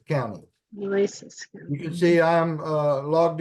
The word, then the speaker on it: Nueces: That's Nueces County. Nueces.